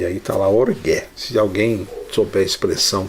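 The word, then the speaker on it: ὀργή: Eu tive pesquisando aqui a pronúncia correta, né, e achei orgué. Já ouvi alguém falar orgue, eu vi um pregador falar orgue, mas tem um acento ali, então ficou orgué.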